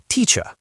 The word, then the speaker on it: teacher: don't pronounce the R, a word like teacher ends in a purewah, teacher. In American English, we add a little R color to it. So, it's teacher, but the vowel quality, it's essentially the same neutral lazy sound.